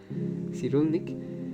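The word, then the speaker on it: Cyrulnik: Este concepto que nos enseña Perry de la resiliencia se concatena con lo que nos habla Boris Sirulnik, perdón, el apellido es un poco difícil de pronunciar. Sirulnic, el cual sostiene que la resiliencia es esa capacidad de superar los traumas reinterpretando la experiencia.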